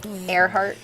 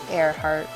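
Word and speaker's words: Earhart: be cool name too airart even though it's pronoun you know it's spelled with an E it's like well that's a great great name for a pilot air heart her heart is in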